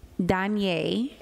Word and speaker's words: Danye: D-A-N-E, Danye. That's how you pronounce it, Danye.